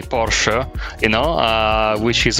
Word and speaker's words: Porsche: like me talking about Porsche when people call it Porsche I go well hang on the E's got a little bit of an emphasis on it it's like with for